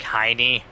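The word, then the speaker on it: Hyne: spelled H Y N E but pronounced like Heiny.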